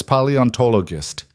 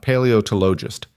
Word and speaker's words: paleontologist: "It's paleontologist," Mila said carefully. "Not paleotologist."